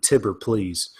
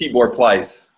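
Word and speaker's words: Tibor Pleiss: completely forgot that uh first of all that's how you say his name which is surprising me because I just been saying tipper please t-bird think it's Tibor plies Tibor clutch I love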